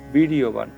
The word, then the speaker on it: বীর্যবান: চেকিতানহ কাশি রাজসচ বীরয়বান আমরা জানি অন্তরজ থাকলে এটার উচ্চারণটা ইয় হয়। এজন্য আমরা এটার উচ্চারণটা করব। শব্দটার উচ্চারণ হবে বীরবান।